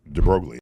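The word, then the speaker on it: de Broglie: I was taught the deoy relation. It relates the momentum of a particle to its wavelength and the relationship is mediated, shall we say, by plants constant. Wait a minute. I pronounced it droy.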